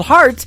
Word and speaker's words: Hart: good friend Robbie Hart it is HR t on her last name and that is called heart in two places yeah I just like your heart that how that's spelled and uh she is